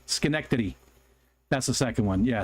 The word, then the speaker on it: Schenectady: neck titty because it's Schenectady Schenectady so I say skin I always tell people to pronounce it skin neck titty because then I get to say titty titty Schenectady Schenectady that's the second one